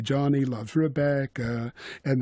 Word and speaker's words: Rebecca: to say Johnny loves Rebecca, and they put the stress syllable Becca on that note, and Re goes first.